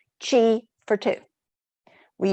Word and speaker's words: chi: practices that we call chi for two we use the word chi because it rhymes with the english word tea and there's that old